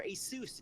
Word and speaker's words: Asus: them for being here with us of course Asus uh or Asus if you want to pronounce it that way is welcomed back to